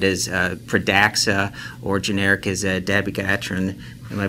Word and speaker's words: dabigatran: So I thought we'd start out first with the new anticoagulant branded as Pradaxa, or generic as dabigatran. Am I pronouncing that correctly?